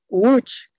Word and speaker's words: Łódź: La primera letra es como la que usaba el apellido del Papa Wojtyla. Se dice Wojtyla, ¿no? Wojtyła, porque la L con dos rayitas o una rayita cortada se pronuncia gua.